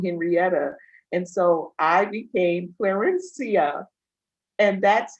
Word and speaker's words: Clarencia: But I love my name and that I am the namesake for my father, Clarencia.